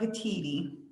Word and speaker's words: Petteti: Yeah, it's Petteti. Petteti, okay.